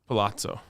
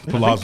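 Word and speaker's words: Palazzo: bigger leg even available pazo yes which I don't think that's how you say it Palazo it is how you do it it's Palazo but but but schematically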